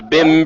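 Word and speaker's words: Bembry: yeah let's down pronunciation it's it's Bim BM Bim it's that simple bimm not BM just two syllables bimy brim no you're doing you're doing too much b n b r e y b he's doing too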